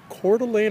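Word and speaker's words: Coeur d'Alene: she liveing calan Idaho that's where I live cordelan Idaho try to spell that c o e u r d apostrophe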